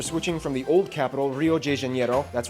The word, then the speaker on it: Rio de Janeiro: from the old capital, Rio de Janeiro. That's right, it's pronounced Rio de Janeiro, not Rio de Janeiro. Get it right, we're not in Mexico, this is Portuguese, not Spanish.